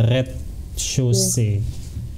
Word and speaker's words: rez-de-chaussée: Res de chaussée. Tapi bacanya red chaussée.